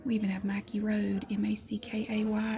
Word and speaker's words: Mackay: We even have Mackay Road, Mackay. It's pronounced Mackay.